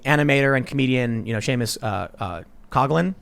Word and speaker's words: Coughlin: So instead of saying something like, they could say animator and comedian, Seamus Coughlin. Am I pronouncing it right? Yeah, Coughlin. You got it right.